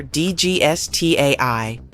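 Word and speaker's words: DGSAT I: Formed meet DG Sati just pronounce each letter D GS a i a living fossil Galaxy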